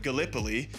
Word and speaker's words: Gallipoli: right because being from Iowa, I said uh Galipoli and it's it is pronounced Galipo. Long story short, Gallipoli is covering the Ottoman front, the Eastern Front throughout all of this.